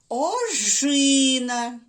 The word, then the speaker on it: ожина: ось так жолуді починаємо наступне слово ожина де стоять ти буде наголос ожина правильно на другому складі жив на звуки и перевірили добре наступне слово